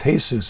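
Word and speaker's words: Jesús: My wife has got some Hispanic in her, and she said, that's not Jesus, that's Jesus. That's for all the Hispanic people.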